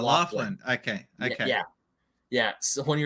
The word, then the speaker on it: Laughlin: No, Laughlin. Oh, Wafflin. Sorry. Okay. It's like it's spelled like laugh and L-I-N, but it's pronounced Laughlin.